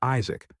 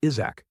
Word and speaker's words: Isaac: He dejectedly reminded them that his name was Isaac, not Isach as they called him.